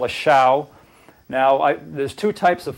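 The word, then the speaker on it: xiao: This is a shao called it's spelled X-I-A-O.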